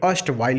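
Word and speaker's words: erstwhile: अष्टवाइल लिखा हुआ है। देखिए यहाँ पर आर साइलेंट होगा, अष्ट नहीं पढ़ेंगे, अष्टवाइल पढ़ेंगे, और जिसकी मीनिंग होती है ओल्ड।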